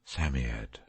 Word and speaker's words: Psammead: was a samiad or sand fairy samyad is pronounced sammied it was old old old and his birthday